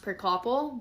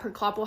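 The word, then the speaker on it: Priklopil: I think his last name is pronounced Prickloppel, but Prickloppel referred to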